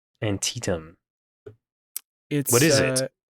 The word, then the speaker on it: Antietam: I wanted you to know the really annoying way to pronounce that word. It's Antietam. Antietam.